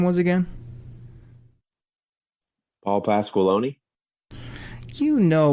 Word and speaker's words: Paul Pasqualoni: Paul Pasqualoni. you know when you pronounce his name, you got to do it in the Stephen A. Smith voice, and that's Paul Pasqualoni.